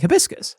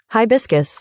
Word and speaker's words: hibiscus: I searched that word pronunciation and this is what I heard. Hibiscus.